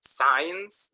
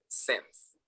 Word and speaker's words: since: okay this is sims many people say signs that's not correct it's since okay so i have